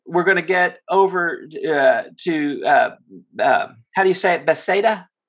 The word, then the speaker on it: Bethsaida: And then we're going to get over Bethsaida? Bethsaida? Bethsaida. You try to pronounce all the vowels somehow.